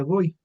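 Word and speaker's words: גוי: Aquí está está escrito con una letra gimel con la vap y una y entonces se pronuncia goy que significa gentil o nación.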